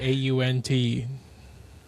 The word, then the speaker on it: aunt: How do you guys pronounce uh the word au n t? Oh, is it supposed to be aunt?